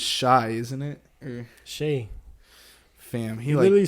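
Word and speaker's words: Shai Gilgeous-Alexander: I think he came out and said it the other day that it's Shea. He said it's pronounced like Shea.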